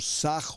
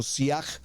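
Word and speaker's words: שיח: La palabra arbusto en hebreo shiny yut se pronuncia como saj o o siaj y es una planta que permanece por mucho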